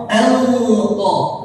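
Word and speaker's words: أنقض: Anqa. Ya, bukan ain tapi hamzah.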